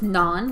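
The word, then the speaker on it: Na'an: His name is Naan, like the naan bread you could get at an Indian restaurant, only his name is spelled N-A apostrophe A-N.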